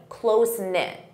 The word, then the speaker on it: close-knit: You can say, I'm from a close-knit family. Close-knit. Notice that pronunciation, close-knit.